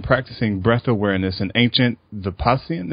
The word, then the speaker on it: Vipassana: Heidi has been practicing breath awareness in ancient Vipassana. Is that pronounced correctly? It's Vipassana.